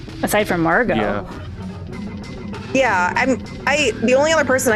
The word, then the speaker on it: Margot: So the name Margot is the French diminutive of Marguerite, hence the pronunciation Margot and not Margot, which means pearl.